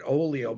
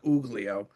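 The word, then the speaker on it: Oglio: I think they pronounced it Oolio, but it looked like Uglio.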